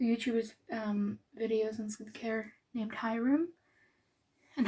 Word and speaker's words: Hyrum: But what made me kind of jumpstart my skincare change was I came across a YouTuber's videos on skincare named Hyrum, and Hyrum rhymes with Skyrim, and Skyrim's my favorite video game, so that's how I would always remember his name.